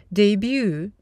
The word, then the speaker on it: debut: Друзья, обратите внимание на произношение слова «дебютировать» – «debut», несмотря на то, что в слове есть буква «t».